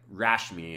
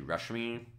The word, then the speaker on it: Rashmi: Because, like, Rashmi is actually Rushmi. Just with the way the correct pronunciation is. Wow, apparently I'm very tongue-twisted. The correct pronunciation is U, I think, generally for the A.